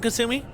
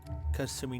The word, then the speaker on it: Kasumi: Being that she's Japanese, all of her syllables always end in a vowel.